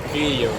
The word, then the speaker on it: Kyiv: I'm in Kiev right now. How do you Actually, guys? right pronunciation it's Kyiv because Kyiv is how Russians say Kiev.